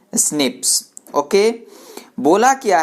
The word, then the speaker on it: SNPs: Single nucleotide polymorphism यानी SNPS। उसको pronounce किया जाता है कैसे, स्निप्स।